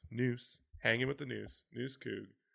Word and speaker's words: Nuss: That's Noose, N-U-S-S. the old Twitter That handle. is, remember, that's how it's pronounced, not Nuss. Noose, hanging with the Noose Coug.